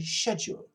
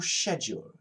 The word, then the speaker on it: schedule: UK some people say schedule schedule what is your schedule schedule in America with a K yeah why is it